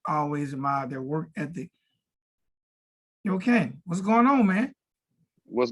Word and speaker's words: Yokane: So let's start off by setting the record straight with the proper pronunciation of your name. Yokane.